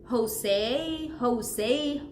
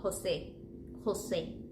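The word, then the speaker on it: José: with C Jose Jose think like think about it as when you pronounce elephant right entertainment always that initial sound of the E is going to be the sound of r or E the whole time we don't switch it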